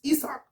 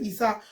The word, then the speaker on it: Isaac: Man, this dude, I was going to say Isaac Cruz, but it's Isaac. It's Hispanic, so he pronounced it Isaac Cruz.